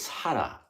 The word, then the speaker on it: Sara: So I got to interview Sala, or it's funny because in Japanese it's Sara, like Sarah, but so Sara.